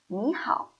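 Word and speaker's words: 你好: need to say hi so in Chinese we say me how me how you heard it I pronounced me into second tone me me how why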